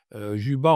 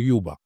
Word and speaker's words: Juba: Juba en fait le vrai la vraie prononciation c'est Yuba. Yuba. Yuba c'est c'est la prononciation berbère autochtone véritable mais elle est elle est rapportée par les français francophone par Julba.